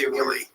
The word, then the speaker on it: Hughley: Oh, it's Hughley.